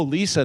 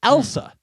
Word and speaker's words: Elsa: And they'd go, "Oh, Lisa, nice to meet you." Everybody would say, "Lisa." Yeah. I'm like, are you do you not hear at all? Am I saying it wrong? Elsa, it's Elsa.